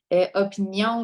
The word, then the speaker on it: opinion: Opinion, là, je vous l'avais dit quand je l'ai prononcé, donc c'est vraiment un N. Donc, il y a des gens qui ont tendance beaucoup à mettre un GN avec opinion.